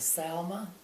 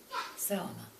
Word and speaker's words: Selma: state, beginning with S, a little town called Selma.